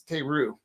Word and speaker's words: Teru: your name I'm like it's Teru and he says back to her it's Taylor so probably only 27